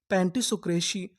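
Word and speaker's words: pantisocracy: अगर आपको आखिरी में सी वाई लिखा मिले तो हम लोग सी वाई को पढ़ते हैं शी। क्या पढ़ते हैं? शी तो हमारी पूरी मीनिंग क्या बनी? पेंसोक्रेसी। पेंटिसोक्रेसी।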